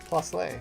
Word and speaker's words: Plusle: Plusley sounds so wrong. Plusle.